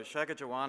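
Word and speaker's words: Shaakichiuwaanaan: detail there there so Shaga Jaan in it's a silent k it's a g and it's long and of course people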